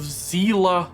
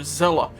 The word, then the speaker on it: Zela: are talking about the battle of zela or zella it depends on your personal preference for pronunciation the difficulty in this